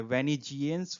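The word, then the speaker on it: vengeance: जी हाँ, प्रोनाउंसिएशन यहाँ पे ग नहीं है, ज है। वेनिजियंस for wrongs done to हिम।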